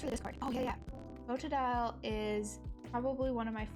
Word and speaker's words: Totodile: Totodile. Did I spell it wrong?